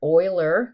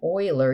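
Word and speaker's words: Euler: So remember, Oiler, it's how you say his name, Oiler.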